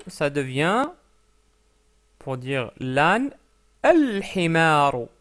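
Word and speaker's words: الحمار: Donc himarun, un âne, ça devient, pour dire l'âne, al-himaru, al-himaru. Pourquoi? Parce que le ha est une lettre lunaire.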